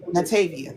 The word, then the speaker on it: Natavia: Uh, I don't want to butcher anyone's names, but Natavia, she's very Natavia, that's how you say it.